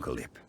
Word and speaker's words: Yip: Basically you don't actually pronounce the p but you make like you're going to and then force yourself to stop.